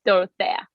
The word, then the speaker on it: Dorothea: Don't I wanna, guys, go listen to Dorothea. Did I say it right? Yes, Dorothea.